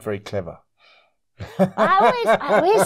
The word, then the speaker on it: Cluver: I first met Paul Clover is that somebody got that name that's her name wrong the you should be changed to an E because it is it's the clever family they've all got doctorates